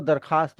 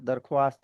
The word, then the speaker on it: दरखास्त: और इसको दरखास्त बोलते हैं। फारसी का वर्ड है। दरख्वास्त नहीं होता।